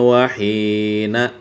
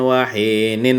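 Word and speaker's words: واهن: Nah, ini kebanyakan orang nih tersalah baris membaca karena kada melihat teksnya. Dibacanya fi kulli waqtin wahina. Nah, terbaca na padahal barisnya nin. Nah, fi kulli waqtin wahina wa salli. Nah, dibacanya na padahal nang wujudnya nin. Barisnya ninin. Fi kulli waqtin wahinin wa salli. Nah, gitu nang wujudnya.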